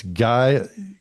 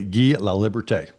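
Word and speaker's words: Guy Laliberté: him the first ex-performer in the seauite since Guy or I'll I'll pronounce it correctly. Gee La Liberte.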